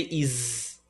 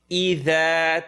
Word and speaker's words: إذا: إذا don't say is. إذا تردى. The tip of the tongue behind the 2 top teeth.